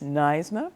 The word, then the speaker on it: NYSNA: Judy Sheridan-Gonzalez is the president of NYSNA. Is that how you pronounce it? Yes. NYSNA.